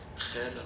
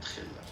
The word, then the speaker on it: خالة: عمة عمة خالة خالة أما هلا Khala, not khilla. Khala.